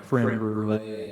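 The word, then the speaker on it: crème brûlée: I've gotten a creme brulee at the country club a few times. It rhymes with soufflé.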